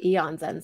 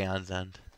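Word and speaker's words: Aeon's End: feel like people say Aon's end sometimes. I say Aon's End. Yeah, like aon like well right there's Eon Flux and it's about the same way as Aon's End.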